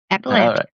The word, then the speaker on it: Appalachia: You said you grew up in Appalach Appalachia. Is that how you say it? Appalachia.